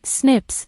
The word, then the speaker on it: SNP: where single-based DNA differences snps single nucleotide polymorphism pronounced as Snips occur in humans this information promises to revolutionize